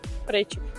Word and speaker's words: причіп: Давайте перевіримо, як правильно: причіп чи причіп? Причіп.